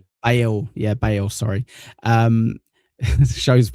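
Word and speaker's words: Bayle: The ship uh Bale Domen Bale.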